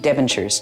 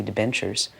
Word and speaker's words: debentures: Devonshires. Now, that's mispronounced completely. I didn't know how to pronounce it. It's supposed to be debentures.